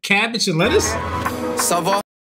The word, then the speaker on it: ça va: Sava. Oh, that's how you pronounce it the whole time. I was saying Cava.